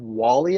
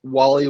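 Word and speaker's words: Walley: But the top corner prospect that was left was Justin Wall-E, I believe, is how his last name is pronounced.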